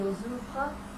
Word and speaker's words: ouvrent: These conjugations all get pronounced the same, making this our somewhat lame boot verb shape. E-E-S-E, E-N-T. They're all pronounced the same way. Ouvre.